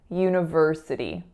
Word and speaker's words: university: So in terms of its pronunciation, there are quite a few syllables. So we have u, so that's a y going into a tense moving u sound. The second syllable is n, schwa, na, na. So it's not uni, it's una. The third syllable is ver, and that's the strongest syllable. And then we have another s, schwa, s. And then the final syllable is flap, e.